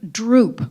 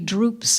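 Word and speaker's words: drupe: think about writing and the word droop which is in the first line is spelled d r u p it's not the verb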